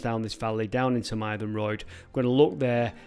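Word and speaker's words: Mytholmroyd: we're going near the towns of Mayroyd. That's how you pronounce that, as far as I'm aware, Mayroyd and Hebden Bridge.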